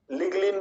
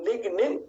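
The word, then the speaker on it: lignin: এখানে অনেক বন্ধুরা একটু ভুল করেন, তারা এনটাকে পরের এনটাকে লয়ের মতো উচ্চারণ করে লিন বলেন, লিগলিন বলেন, স্যাপোলিন বলেন। বন্ধুরা না, লিগনিন, স্যাপোনিন।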